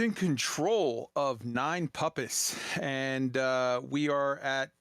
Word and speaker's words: Nine Puppis: in chat kai mispronounced nine puppies yes yes yes i do call it quite often the nine puppies system even though its name is nine puppets p-u-p-p-i-s um the requin squad